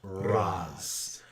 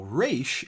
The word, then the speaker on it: Ra's: And in the Arabic pronunciation, it is Raz. Now, Raish is not incorrect. It is the Hebrew translation or pronunciation, and the creators of Batman being of Hebrew descent.